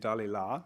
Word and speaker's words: Dalila: is pronounced sansol and if you say the character's name in french it's sanson so you'll have to listen carefully if people are talking about these french words it's sanson and dalila samson and delilah and